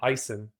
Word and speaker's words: Ison: His name is my dad's middle name, Ison. It's spelled like ocean, but with an I.